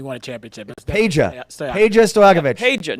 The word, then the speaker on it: Peja: Andrei Stojakovic, who is the son of former Sacramento Kings Pete Stojakovic. Peja, thank you. Did I say Pete? Yeah, you said Pete.